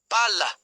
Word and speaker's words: palla: When pronouncing a double consonant, pause briefly before it, hold the consonant sound slightly longer, and stress it more strongly than the surrounding vowels. Examples. Pala, shovel versus palla, ball. Notice the double l in palla.